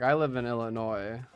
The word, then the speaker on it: Illinois: I know a lot of people like I live in Illinois. A lot of people say Illinois like with the S, but I'm pretty sure the S is supposed to be silent.